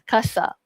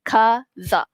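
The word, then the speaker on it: casa: Kasa dia bukan kasa tapi kaza. Kaza sebab ada dua vokal a dan juga A kat sini.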